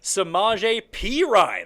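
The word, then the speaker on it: Perine: the Kris Thompson's number 23 Lamar Miller 24 semaj P Ryan I finally learned how to say it properly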